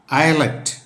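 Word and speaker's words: islet: ഐ എസ് എൽ ഇ ടി ഇതേ അർത്ഥം തന്നെയാണ് ഐലറ്റ് ഐലറ്റ് എന്നാണ് പറയുന്നത് ഡി ഇ ബി ആർ ഐ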